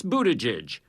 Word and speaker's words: Buttigieg: as pronouncing his name it's Budaj as in boot Edge Edge but the 37-year-old mayor